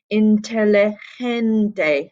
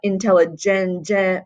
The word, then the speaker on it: inteligente: Inteligente, gente, gente with a soft G sound, not a intelligente with a hard G sound.